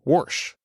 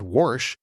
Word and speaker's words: wash: Southern than the other I grew up saying wash like washcloth but I would say Washington DC so I wasn't consistent with even when I said warsh and then at some point my mind exploded when I saw in writing the word washcloth and I realized huh there's no R there I even remember a